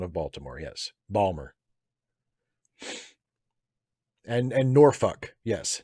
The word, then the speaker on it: Norfolk: Um, Jason Balmer is a Balmer is an acceptable pronunciation of Baltimore. Yes, Balmer. And Norfolk. Yes, Norfolk.